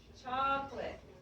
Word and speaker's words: chocolate: a chocolate ice cream so in English two syllables chocolate chocolate all right very well